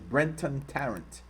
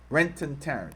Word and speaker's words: Brenton Tarrant: On Friday, Brenton I was saying his name wrong. I'm sorry. It's Brenton Tarrant. Brenton Tarrant.